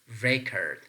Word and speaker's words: record: syllable word recurred so if it is functioning as a noun we have to place the stress pattern on the first syllable we can say the noun record the noun record is pronounced record and the verb recurred